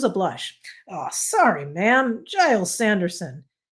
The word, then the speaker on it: Giles: Giles Sanderson. He pronounced it with a soft G, and it rhymed with piles.